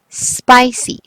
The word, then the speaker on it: spicy: The second word is okay, spicy. Spicy peppers. Or just spicy. Spicy, spicy. Okay. Let's spell and write spicy. Okay. S P and the long I. Spy. Soft C. Spicy. Spicy.